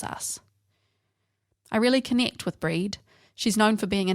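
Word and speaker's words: Brigid: of Celtic pagan goddess breed pronounced like breed in old Irish and it's very topical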